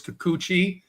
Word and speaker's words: Kikuchi: I obviously misspoke. It's Kikuchi.